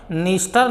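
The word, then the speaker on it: Dniester: नदी का नाम है नीस्टर नाम की नदी है, तो इसमें भी डी साइलेंट है।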